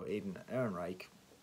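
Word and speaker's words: Alden Ehrenreich: And going back to the Star Wars thing, the actor who they cast to play a young Han Solo, Aiden Ehrenreich, that's how you say his name, he was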